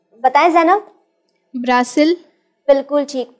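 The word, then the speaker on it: Brasil: जाता है बताए जैन ब्रासिल बिल्कुल ठीक पोर्तुगीज लैंग्वेज में इसे ब्रासिल कहा जाता है और क्या आप जानते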